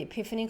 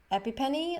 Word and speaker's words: epiphany: in the past uh she thought it said epipenny like is what is that epipenny i was like i think it's epiphany that you're trying to to